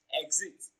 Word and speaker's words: exit: pattern is option b exit now the stress comes on the first syllable for exit it is stressed on its first syllable while other options are